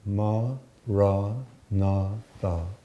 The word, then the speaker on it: Maranatha: If you choose this word, Maranatha, say it as 4 syllables, Ma, Ra, Na, Tha.